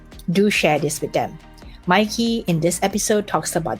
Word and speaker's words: Maaike: There's only one country in the world where they know how to pronounce that, and that is in the Netherlands. Maaike.